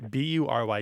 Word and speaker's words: bury: I think I'm going to make it follow the more typical pronunciation of the U and pronounce this as bury. It's going to be bury. Like fury and jury.